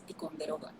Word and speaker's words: Ticonderoga: I don't know, I like that name, but I don't know how to pronounce it in English. It's Ticonderoga.